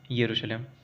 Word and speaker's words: यरूशलेम: देखिए spelling start होती है जे से, लेकिन इसको पढ़ा जाता है यरूशलेम।